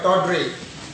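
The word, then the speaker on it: tawdry: डी Y, gaudy, या इसी को बोलते हैं टाउड्रे, टी ए डब्ल्यू डी आर वाई, टॉड्रे।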